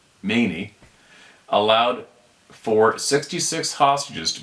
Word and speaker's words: Khomeini: same month November 4th Ayatollah Khomeini pronounced Ayatollah many allowed for 66 hostages